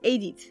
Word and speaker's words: Édith: Her name, Edith, is pronounced Édith in France.